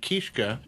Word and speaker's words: Kiszka: Kiska is common or when I when I take on the stage persona of Papa kishka mm-hmm that's more proper polish way to do it so so it was